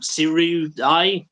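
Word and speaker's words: Sirui: Well, it's like UI on the end, isn't it? Siri.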